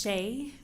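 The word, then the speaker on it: Shae: My name is Shay, S-H-A-E, middle name and maiden name, S-A-N-D-E-R-S-O-N. Last name is pronounced like Harris with a lisp.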